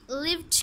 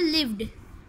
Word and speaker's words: lived: इसी तरह से अगर हम लास्ट पे इसकी लिव्ड कर देते हैं, यहाँ पर भी ट की साउंड दे देते हैं, तो इसकी प्रोनाउंसिएशन रॉन्ग हो जाएगी. इसकी करेक्ट प्रोनाउंसिएशन है लिव्ड.